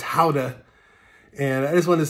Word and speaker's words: Gouda: houda many years ago when i pronounced it gouda with my american pronunciation but i quickly learned that it was howda and i just wanted